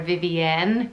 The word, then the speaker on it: Vivienne: You can spell it either V-I-V-I-A-N, or you could spell it I-E-N-N-E at the end and pronounce it maybe more Vivienne with a slight French accent, which I don't have because I'm Northern Irish.